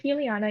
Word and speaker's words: Juliana: So my name is Juliana. You pronounced it right.